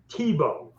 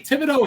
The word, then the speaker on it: Thibodeau: Tebow. That's the way he pronounced it. He's from down your way, Brunswick, Thompson. Oh, we'd say Thibodeau here in fucking French Canadian Maine.